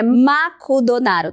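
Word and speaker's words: マクドナルド: Aí, se você pensa que sempre vão te entender, lembra que em japonês, a pronúncia de McDonald's é Makudonaru.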